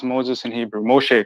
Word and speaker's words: Moshe: How do you pronounce Moses in Hebrew? Moshe, correct?